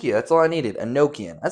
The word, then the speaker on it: Enochian: Enochian.